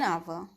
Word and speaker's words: hour: For example, an hour, an honorable person, an honest boy. In each of these cases, the letter H is silent.